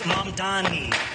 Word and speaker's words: Mamdani: The name is Mamdani.